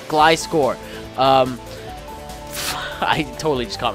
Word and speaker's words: Gliscor: It's pronounced Glyscore.